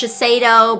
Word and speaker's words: Shiseido: and show you guys and i know it's pronounced shiseido but you know i've been calling though for